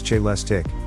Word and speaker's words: Celestiq: pack powering a two motor AWD system.the Celeste pronounce j less tick will be handcrafted at GM's Global Technical Center